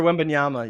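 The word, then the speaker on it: Wembanyama: how do you say his last name Victor win benyama yeah dude did you see the picture of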